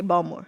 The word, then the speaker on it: Baltimore: I say Baltimore. Like there's no T. It's just a fluid thing.